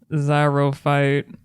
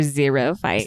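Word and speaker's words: xerophyte: okay and for the only word we have zyro fight I believe that's how you say it I don't know what this is but I love it or zero fight let her spell it x e r o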